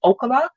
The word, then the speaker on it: Ookla: I'm going to say Okla. I do not know the correct pronunciation of it, but this